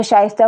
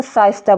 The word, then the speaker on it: शाइस्ता: से, शाइस्ता नाम है, तो शाइस्ता को वो जिसकी ज़बान साफ़ नहीं होगी, जिसका तलफ़ुज़ प्रोनाउंसिएशन साफ़ नहीं होगा, क्लियर नहीं होगा, तो वो शाइस्ता को साइस्ता बोलेगा। तो वो आवाज़ उनकी जो